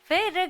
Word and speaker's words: फेर: I was doing फिर गड्डी तो वो फिर नहीं होता, फेर होता है पंजाबी में.